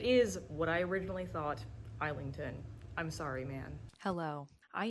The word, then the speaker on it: Islington: I first listened to the audiobook of The Will of the Many, which pronounces it Islington. It is what I originally thought, Islington.